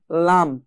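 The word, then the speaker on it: ل: সামনে চলে আসলাম, আগা, এই জিহ্বার আগার কোণা এক পাশের কোণা সামনের উপরের এক পাশের দাঁতের গোড়ার সঙ্গে লাগিয়ে পড়তে হয় লাম।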